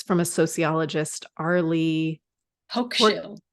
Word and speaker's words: Hochschild: I might butcher this name, but it's from a sociologist, Arlie Hochschild. Hochschild. I would have definitely Hochschild.